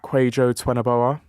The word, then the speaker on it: Kwajo Tweneboa: Yeah, so I'm on Instagram, Twitter and TikTok at Kwajo Tweneboa. I changed my act recently, so I had to remember that. And that's spelled KWAJOTWENEBOA.